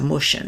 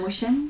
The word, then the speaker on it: Mushin: meeting we're having with Professor Mushin, and I probably pronounced his name wrong. It's Mushian."